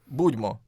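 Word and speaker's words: Будьмо: Budmo.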